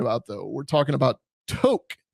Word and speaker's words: Tok: though we're talking about to to not talk like Tick Tock it's spelled the same but this presentation was